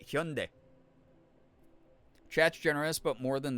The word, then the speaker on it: Hyundai: Hearing Hyundai is so weird. I've always heard Hyundai. It's weird. They like allowed like all the weird mispronunciations because we should be saying Hyundai.